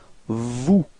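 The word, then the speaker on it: vous: new okay and then Vu same thing final s is not pronounced so Vu okay and finally same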